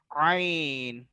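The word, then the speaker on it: عين: The next one is ain. Ain is a halaq pronounced from the middle part of the inner throat, like ha.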